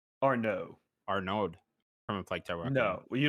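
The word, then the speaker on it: Arnaud: from reflectel uh uh arnid or no arnode from a flight no you don't you don't pronounce the d you don't pronounce the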